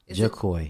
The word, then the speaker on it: Jahkoy: My name, how it's pronounced? Jahkoy. Jahkoy? Yes, smooth.